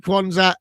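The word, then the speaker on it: Quansah: Can you pronounce that next one? Jarrell Kwanzaa. That's it, Kwanzaa.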